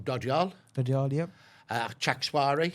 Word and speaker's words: Chakswari: And in particular, they're coming from, and again, please correct me if I get the pronunciations wrong, Dodyal, Dodyal, yep. Chakswari, Chixwari, yep.